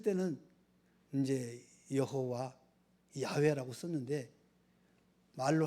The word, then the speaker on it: 야훼: 이 영어 발음으로 여호와, 이제 이 히브리어는 야훼라는 말이에요. 야훼.